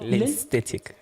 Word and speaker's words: Lensesthetic: Alongside, please tell me if I'm pronouncing this correctly, the Lensesthetic Films. Lensesthetic Films. Lensesthetic. Oh, Lensesthetic. That's the thing. Aesthetic.